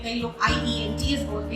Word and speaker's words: IELTS: लोग कैसे बोलते हैं आईईएलटीएस, इसका असली pronunciation. Okay, very good. आईईएलटीएस ही इसका ओरिजिनल प्रोनाउंसिएशन है, हम लोग आईएलटीएस बोलते हैं। आईलेट्स बिल्कुल गलत है, उसे मत यूज करिए।